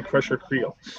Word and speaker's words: Crusher Creel: really yeah it's like when I first found out that crusher crowds name is really crusher creel oh that's actually how it's spelled so why